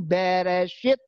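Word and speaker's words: בראשית: Tapi insya Allah malam ini aku kasih tahu bahwa bacanya di atas itu Bereshit, artinya in the beginning atau pada mulanya.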